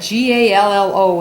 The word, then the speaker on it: Gallo: It is Mexican, and I called my girlfriend and I was asking her, how do you say that G-A-L-L-O?